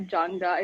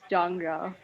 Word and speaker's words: Jangda: It's not Jangda. It's pronounced Jangra, just for future reference.